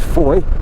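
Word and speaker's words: Fowey: this is the road towards Foy as the locals call it pronounced f I've done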